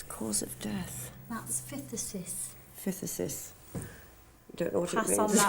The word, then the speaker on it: phthisis: That's phthisis. Phthisis. Don't know what Pass it means. on that one. No, I've never heard of No. that. 5 months certified. So basically that just means she's obviously had phthisis for the last 5 months before Right.